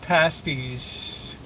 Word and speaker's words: pasties: going to make some some beef pasties and that's the proper way you pronounce it uh on Saturday I